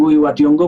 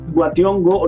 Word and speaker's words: wa Thiong'o: thiong'o que partió diciendo que no se llaman wa thiong'o porque no se pronuncia de hongo de hongos como tronco es como se pronuncia distinto y es muy hermoso